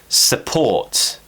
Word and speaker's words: support: letter U for example support support stresses on port so we're relaxing the first syllable support so one of